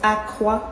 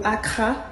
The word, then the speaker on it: akara: We have akara. In certain islands it can be pronounced as akwa or akara.